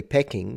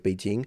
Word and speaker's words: Beijing: like now you know in English we used to say pecking which used to be at one point the name of the city of Beijing now I believe Beijing is the more correct and more used uh pronunciation even in English correct